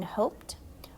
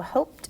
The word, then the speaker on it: hoped: word is hope here notice an ends and an e that's why the o is long in hoped while the o and hop is short so hoped is going to be a long o and you the e